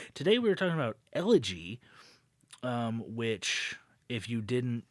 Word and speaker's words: Elegy: Twilight Zone episode 20 elegy yeah which I think is how that's pronounced yeah you are correct and if you're uh